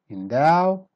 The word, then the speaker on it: endow: endow start weak then become strong endow fend impunity stress in